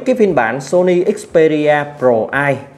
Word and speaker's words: PRO-I: Thì với cái phiên bản Sony Xperia Pro i, mình đọc là i theo nhà sản xuất họ đọc như vậy, thì i trong chữ Xperia Pro i đó là imaging.